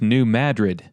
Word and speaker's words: New Madrid: is called Caruthersville and the second town is pronounced New Madrid both towns are in the region known as